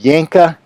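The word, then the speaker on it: Janka: Yanka, it's uh spelled with a J pronounced with a Y. The Yanka hardness on this wood is about 590.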